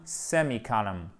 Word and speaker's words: semicolon: Les Anglais font column, semicolon. OK? Et là, vous avez un accent tonique ici. Et ce n'est pas semi. Non, ici, c'est un i court.